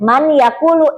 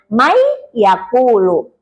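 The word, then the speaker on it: من يأكل: Nun sukun bertemu ya, tertulisnya man yaakulu, tapi dibacanya may yaakulu.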